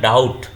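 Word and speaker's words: doubt: भी हो जाते हैं जैसे यहां डाउट जब डाउट बोलते हैं तो बी को नहीं बोल रहे हैं ये साइलेंट है तो यहां पर साइलेंट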